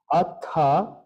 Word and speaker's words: atha: and his his translations atha remember that the H is pronounced and there's no Theta sound in Sanskrit so it will never be Alpha the H is an aspirant listen to my voice